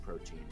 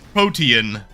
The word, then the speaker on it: Protean: Okay, I literally looked up the word Protean and had Google tell me this the way you're supposed to say it, But and he said definitively Protean.